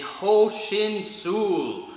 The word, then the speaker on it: Ho Shin Sul: So, self-defense in Korean is Ho Shin Sul. All right, that's how we pronounce it in Tang Soo Do.